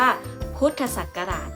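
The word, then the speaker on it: พ.ศ.: ศาลา จุด นะ คะ วิธี อ่าน เรา จะ ต้อง อ่าน คำ เต็ม นะ คะ เพราะ ฉะนั้น พอ จุด สอ จุด เรา จะ อ่าน ว่า พุทธศักราช นะ คะ เครื่อง หมาย ต่อ ไป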